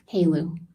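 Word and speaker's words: HALEU: H, how do you say h e l eu? Halu. Halu, what is in your line of work? What is Halu?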